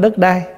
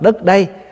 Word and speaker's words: đất đây: đất ở đây nè chứ không phải đất đai mình nói riết nó thành trại thành cái chữ đất đai chứ Đúng ra là mình phải đọc là đất đây tức là đất này